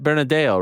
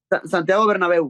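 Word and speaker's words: Santiago Bernabéu: It's yes, the Bernadeo, right? How do you pronounce it? Santiago Bernabeu.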